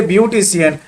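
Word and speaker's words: beautician: चलिए हम एग्जांपल देखते हैं, जैसे ब्यूटिशियन, लास्ट में सी आई ए एन है तो ब्यूटिशियन, तो यहाँ पर उच्चारण क्या हो रहा, तलेबस्सा हो रहा।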